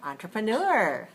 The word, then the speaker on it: entrepreneur: accent the whole time so we just use a little bit of the stress pattern but not all the values and the consonants okay so we say entrepreneur very nice and listen